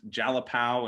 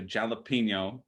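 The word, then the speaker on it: Jalapão: another thing yeah they they misrenounced jalapao into jalapeno and uh they don't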